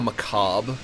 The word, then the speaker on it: macabre: You know macabre, that word that nobody knows how to pronounce. It's actually pronounced macabre. That's how you say it.